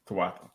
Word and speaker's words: Tawatha: with I No, because you were breaking down my question about Tawatha. So am I pronouncing that right? Tawatha. Tawatha. All right. Tawatha. Just want to make sure.